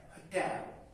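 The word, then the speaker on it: hotel: इसका एक्सेंट है जी, इसका जो प्रोनाउंसिएशन है होटल। होटल, होटल। इवन ये मैं बता दूं, जो अहले जुबान है कुछ, वो एच को साइलेंट करके होटल भी बोलते हैं, यानी उसके साथ एन होटल लगाते हैं।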